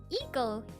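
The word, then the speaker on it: ICO: It's pronounced Iko. Iko from the Japanese Wikipedia page. Interesting. I've only heard people say Aiko.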